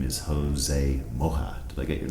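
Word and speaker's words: Mollá: his name is Jose Molla. Did I get your name right? Yeah, it's actually Molla, because he has an accent in the A, and the L's are always pronounced like sh.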